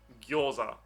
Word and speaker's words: gyoza: It's not gyoza or gyoza, it's gyo, gyoza.